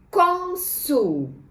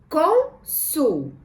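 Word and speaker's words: Cônsul: Consul. Conseguimos separar em sílabas? Sim, vamos separar então. Consul. Qual sílaba tônica? Com. Muito bem. O acento circunflexo vai lá na letrinha O.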